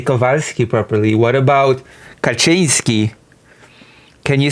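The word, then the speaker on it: Kaczynski: Ted Kazinski. And now you're back to pronouncing it incorrectly. It's Kachinski. Oh, Ted Kachinsky.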